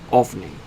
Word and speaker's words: Ophni: I want to make sure it's Ophni. That's spelled O-P-H-I. Oh, damn it, I can't fucking speak. I had to re-say it. O-P-H-N-I. O-P-H-N-I.